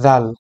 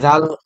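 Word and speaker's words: ذال: লাগানোর পরে জাল উচ্চারণ করবেন না, উচ্চারণ করবেন জাল। জাল, এটাও পাতলা উচ্চারণ হবে। বাংলাদেশে দেখা যাবে যে অনেকেই এটাকে জাল উচ্চারণ করে থাকেন, কিন্তু এটা সম্পূর্ণ ভুল উচ্চারণ।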